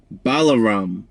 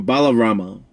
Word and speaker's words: Balarama: and then you have balarama or balarama whichever two ways you want to pronounce it who was the brother